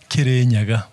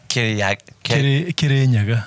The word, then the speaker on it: Kirinyaga: The mountain that the country derived its name from is called Kirinyaga. Kirinyaga.